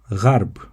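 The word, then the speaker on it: غرب: The word for west is gharb or gharb. You write ghayn, ra, and ba. Gharb. The word for Arab is pronounced Arab using the letter ayn.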